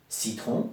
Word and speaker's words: citron: Citron, on entend bien le S. Et pourtant, j'écris citron. Et là, il n'y a pas de S. Parce que parfois, le son S s'écrit avec un C.